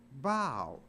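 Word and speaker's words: bough: o u h but it's not pronounced buff it's pronounced bow so even though a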